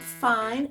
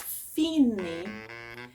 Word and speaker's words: fine: And then you say, make sure you explain, pronounce it not fine, it's fine, and fine means end.